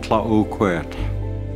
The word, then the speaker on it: Tla-o-qui-aht: This area that we are in is known as Tla-o-qui-aht Sound, but the proper pronunciation is Tla-o-qui-aht.